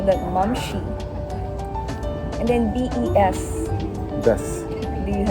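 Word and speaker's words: momshie: Oh, What about M-O-M-S-H-I-E? How do you pronounce it? mumshi. Momshi.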